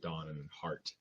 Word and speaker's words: Donhardt: And so with Donhardt, the D is silent in it, so it's pronounced Don and Hart.